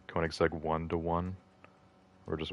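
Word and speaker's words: Koenigsegg: I used to just say Koenigseg one, but that would be incorrect. It's maybe like Koigseg one to one or just one one because it's meant to be like a ratio.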